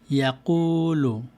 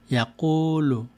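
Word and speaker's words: يقول: তারপরে এটি ইয়াকুলু, এখানে দাম্মার সাথে ওয়াও এসেছে, ইয়াকুলু। আর এটিতে হলো কাসরার সাথে ইয়া এসেছে এখানে, তো এটিকে পড়ব কিলা, কিলা।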